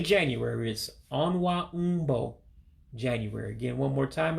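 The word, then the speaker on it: ọnwa: um excuse me let me get it right onward um is january so again you break it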